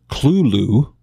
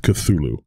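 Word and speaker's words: Cthulhu: couple episodes I believe Lovecraft himself pronounced it culu or culu uh if you look at the spelling CTA h l hu to pronounce it the way he pronounced it I think you would need some apostrophes in there which uh I've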